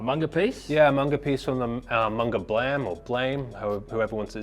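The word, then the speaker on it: Blame!: Yeah, a manga piece from the manga Blam or Blame, whoever wants it. It's spelled Blame, but it's pronounced Blame, I think.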